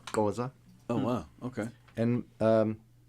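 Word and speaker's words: Xhosa: He belongs to, if I'm not mistaken, the Koa clan, XH Osa, pronounced Koa.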